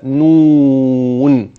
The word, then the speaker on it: ن: وضح الكاف كحرف مفرد وضح النون كحرف مفرد وينطق هكذا نون ليه بقول كده على عشان احنا اخدنا لو تفتكر اول سوره القلم نون والقلم وما يسترون جميل مستعد للسفر